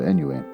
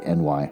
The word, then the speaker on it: ennui: Oh, this is ennui. It's actually spelled out instead of the way that I keep mispronouncing with every book that refers to ennui. I always say NY.